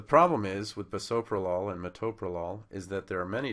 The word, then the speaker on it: metoprolol: they all come together the problem is with bisoprolol and ASM malol and metoprolol is that by taking this ool away we have now created unpronouncable syllables you can't say per you can't say ASM okay so because you can't say those two syllables in a meaningful way we're going to have